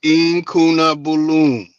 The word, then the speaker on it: Incunabulum: Oh, it's Incunabulum. Okay, Incunabulum. That's how you say the whole word.